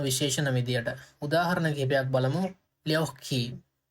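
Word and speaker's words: лёгкий: එතකොට මෙතන k දෙකක් විදිහට තමයි pronounce වෙන්නේ. ඒ නිසා අපි කියන ලියොක්කි. ලියොක්කි එහෙම තමයි pronounce වෙන්නේ.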